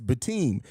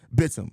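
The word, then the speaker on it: Bitim: They ruined me last game because the announcers pronounced it as Bateem. Then I think it was Brazil Popular. Correct me in that I actually was saying it correct, and it is Bitum.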